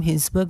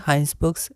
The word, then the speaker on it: Hinsberg: इसे हम हिंसबर्ग नहीं हाइंसबर्ग्स प्रोनाउंस करेंगे, और ये हाइंसबर्ग और एक मिलता जुलता नाम है हाइजेनबर्ग, ठीक है।